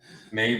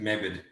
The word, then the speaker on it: Maeve: Maeve rhymes with Dave, put you in the grave. Yeah, Maeve, you need to change that username. It Dirk, works, so. Mr. Dirk Chambers. So people don't try and pronounce it Mebid. I did, I think, at the start.